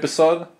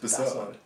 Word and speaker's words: BASOD: Sitting here with Basod. Basod. Basod me. Pronounce it properly. Please say it properly. Basod. Basod. You've got the wrong emphasis, Trent.